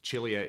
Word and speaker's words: Chilia: And Chilia is actually how Charles pronounces his last name.